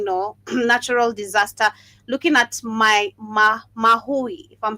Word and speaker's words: Maui: Looking at Maui, if I'm pronouncing it correctly, Maui, the fire we had, it was, I think, last year. Then this year we also had another hurricane. Malawi. Maui.